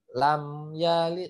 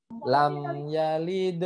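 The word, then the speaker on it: لم يلد: Ya, mim sukun tidak boleh dipantulkan. Jadi jangan teman bacanya lam yalid. Nah, seperti itu lam, tapi lam yalid harus terhenti. Lam yalid. Nah, seperti itu ya.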